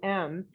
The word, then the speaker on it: aum: elm the aum and i'll show you how to pronounce it how to do it and it takes a little work with your mouth so you start with an ah so it's oh so you make make a circle with your lips um